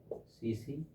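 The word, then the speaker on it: tsetse: है वाहक सीसी फलाई सीसी फलाई मक्खी है ना कौन सी है सीसी फलाई मक्खी ट्रिपन सोमा सीसी फलाई मखी है ना दोस्तों कभी कभी ऐसा लिखा जाता है दोस्तों इसको बोलते हैं साइलेंट इस में सीसी फलाई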